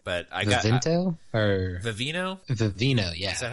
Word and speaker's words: Vivino: Vivino, yeah.